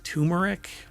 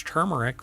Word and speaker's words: turmeric: lot of people pronounce turmeric but it's not and I've had people when I say it's turmeric with an r and they're like there's